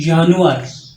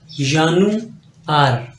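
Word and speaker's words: Januar: है जनवरी तो देखि जनवरी को आप जर्मन में कहते हैं जानुअर यान आर यान आर देखिए आपने अल्फाबेट्स में पढ़ा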